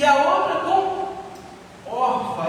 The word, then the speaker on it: Orfa: Uma com Ruth e a outra com Orfa, é assim que pronuncia, né?